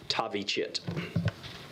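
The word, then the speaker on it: Thavychith: d-a-r-i middle name d-r-u last name t-h-a-v-y c-h-i-t-h pronounced tavi chit as soon as tavi chit was identified as the suspect in this case cmpd's violent criminal apprehension team v-cat immediately began apprehension efforts to locate tavi chit in the last two weeks since we spoke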